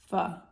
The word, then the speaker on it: pho: And I hope I'm pronouncing it correctly, because I looked it up 8 times and then you guys told me that it's pho.